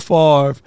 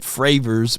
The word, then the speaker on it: Favre: with that right and Favre was was never drafted as Brett Favre he was drafted as Brett frers because they couldn't even say his name right and he was drafted by